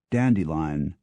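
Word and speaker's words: Dent-de-Lion: l i o n a town in Kent is pronounced dandelion thus combining the old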